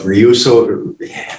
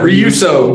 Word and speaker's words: REUSO: you, projects you got going on, hype up REUSO. I said it wrong again. You got it. REUSO.